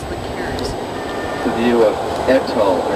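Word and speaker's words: Ettal: The view of Etal, and it's spelled E-T-T-A-L.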